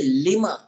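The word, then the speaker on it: لِمَ: Kerana ada juga kalimah tu dia lam mim tapi dibaca lima. Lam bari bawah, mim bari atas, dibaca lima.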